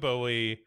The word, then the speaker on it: Bowie: David Bowie.